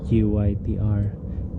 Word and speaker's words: GYTR: That's how you pronounce it, GYTR, for Yamaha.